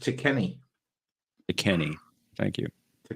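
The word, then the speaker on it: Tekeny: that leg it teeky Gore appears in it's pronounced to Kenny to Kenny thank you to Kenny yeah that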